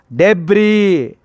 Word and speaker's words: debris: The S is a silent letter. We didn't pronounce. How do we pronounce? Debris.